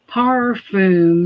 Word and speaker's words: parfum: It says parfum, not perfume. You notice that? That's the fancy French pronunciation of that word.